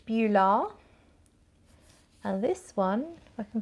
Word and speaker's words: Beulah: the next one beulah so it's spelt b-e-u-l-a-h bula and this one i